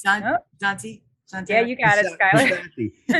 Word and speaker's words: Passante: Well, Passante, is that how you pronounce it? Passante.